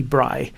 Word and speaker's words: Braille: displays or bright displays to pronounce it correctly it's Louis Bry converts words and images